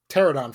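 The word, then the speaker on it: Pteranodon: your theme pars that's ter pterodon Flyers the p is silent but continue whatever anyway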